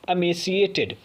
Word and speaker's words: emaciated: लिखा ई है बट पढ़ा आ जाएगा, प्रोनाउंसिएशन ध्यान से देखिएगा, इसका प्रोनाउंसिएशन है एमेसिएटेड।